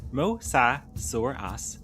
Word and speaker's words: mosasaurus: The mosasaurus, pronounced mosauras, wasn't a dinosaur, but a marine reptile that lived during the late Cretaceous period around 70 to 66 million years ago.